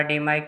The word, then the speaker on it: DMAIC: और ये याद रख लेना, डीमाइक विच इज़ प्रोनाउंस डीमेइक, ये क्या करता है, एग्जिस्टिंग प्रोसेस को इम्प्रूव करता है।